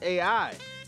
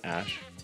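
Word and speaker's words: Æ: On Twitter, Grimes says the smashed up AE is pronounced AI. In an interview with Joe Rogan, Musk has different plans. Letter X. And then the AE is like pronounced Ash.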